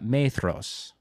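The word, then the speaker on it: Maedhros: i can do this uh methros uh just learned that's how you say that very sexy yes uh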